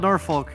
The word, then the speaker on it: Norfolk: Even though it's spelled Norfolk, pronounced Norfolk.